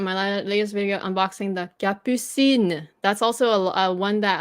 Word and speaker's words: Capucine: Capucine. Because again, we don't say the S, right? Sin. But it's not cappuccine. It's that would be like Italian.